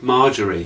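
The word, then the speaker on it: Margaery: Cersei's got a real problem, and it's pronounced Marjorie. She said Marjorie. Now I went on YouTube to see how you pronounce it, and it was pronounced quite different. So we'll go with Marjorie then, because it's a damn sight easier to say.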